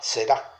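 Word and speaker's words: זרע: Acá es la palabra será, con Z en hebreo, y termina con acento en la A, será.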